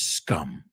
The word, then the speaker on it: scum: So that word is scum. Okay, scum. S-C-U-M. It rhymes with cum.